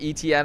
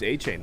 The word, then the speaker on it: Achane: Shock, Etienne, and Olave. It's Achane, now. What? Etienne. I guess we've been pronouncing it incorrectly this entire time.